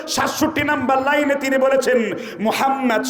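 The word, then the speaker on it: মুহাম্মদ: number লাইনে তিনি বলেছেন মোহাম্মদ শব্দটা উচ্চারণ করতে দুই ঠোটের মিলন হয়ে যায় আর মোহাম্মদ শব্দটা উচ্চারণ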